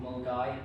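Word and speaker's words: Milngavie: edge of uh Glasgow in a place called Mulgai which is spelled Mil Milgabi because the Scottish hate language.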